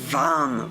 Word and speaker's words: vam: And the one syllable Sanskrit mantra is vam with a v.